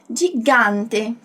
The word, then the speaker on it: gigante: bem diferente do português do italiano a gente não tem esse som anasalado de quando a gente fala gigante percebe que o som passa aqui pelo nariz e isso vai acontecer